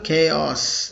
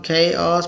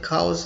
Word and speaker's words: chaos: It's a noun, chaos. People mistakenly pronounce it cows or chows, something like that. Correct pronunciation is chaos. This is the right pronunciation.